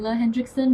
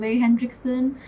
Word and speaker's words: Henriksen: Also it's pronounced HENRIKSEN, not HENRIKSEN.